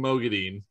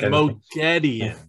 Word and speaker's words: Moghedien: both out well for for your cardinal sins of of mispronouncing mogadine wait mogaddien no it's mogedion again that's what i said no it's not no it's not you put the wrong and fastest on the wrong side what are we like